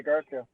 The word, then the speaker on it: Garstka: I'm a huge Matt Garstka, is that how you say it? Yeah, Garska.